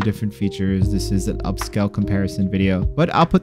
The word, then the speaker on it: Upscayl: Next up is my personal favorite, which is Upscayl. And that's Upscayl with a YL. U-P-S-C-A-Y-L.